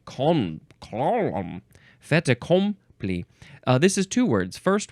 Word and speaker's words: fait accompli: I think they emphasize the com. Fait accompli instead of fait accompli.